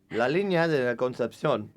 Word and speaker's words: La Línea de la Concepción: La Línea de la Concepción, right? Okay, so perfect pronunciation because you lived in Andalusia.